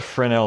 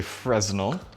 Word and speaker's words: Fresnel: if you know what Fran el means some people who are more anglicized than I am coming from a bilingual province would call this a Fresnel it's not how it's pronounced so it's a lensing